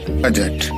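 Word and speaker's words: budget: है ब्रिज और laser, बजट। यहाँ तीनों जो आपको शब्द दिखाई दे रहे हैं यहाँ पर हमने डी का उच्चारण नहीं किया है क्योंकि यहाँ पर डी का साइलेंट हो गया है।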